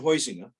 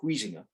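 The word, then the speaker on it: Huizinga: cultural aspect now um johann hoizinger or wheezing up depending on how you want to pronounce it who wrote homo ludens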